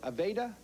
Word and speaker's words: Aveda: i want you to tell me about your aveda corporation is that the right pronunciation yes the first company in this country